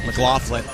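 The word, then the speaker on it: McLaughlin: Thank you, Mark Mclofflin. And by the way, that's how he told me to pronounce it.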